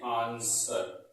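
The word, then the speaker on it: answer: वो क्या लिखा है ए एन एस व ए आर इसको पढ़ते हैं आंसर क्या पढ़ते हैं आंसर यानी इसमें व साइलेंट रहता है आंसर में व साइलेंट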